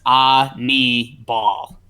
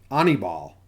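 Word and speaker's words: Aníbal: the pronunciation on baseball-reference it says ah me ball on e ball is how you say it because that's I've never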